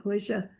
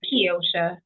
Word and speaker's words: Keosha: And Miles and Croatia. Am I saying your name? Croatia. Am I saying it correctly? Um, thank you so much for joining us. It's Kiosha.